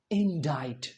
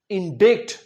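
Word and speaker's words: indict: क्या लिखा है यहां पर? इंडाइट। इंडिक गलत हो जाएगा।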